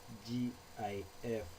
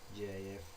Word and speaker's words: GIF: Some may pronounce it as GIF, but it's supposed to be GIF.